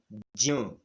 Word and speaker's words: ज्ञ: फिर है ज य अ, क्या बनेगा, ज्य, जिसको हम ज्ञ भी कहते हैं। तो ज्ञ गलत उच्चारण है, ज्य।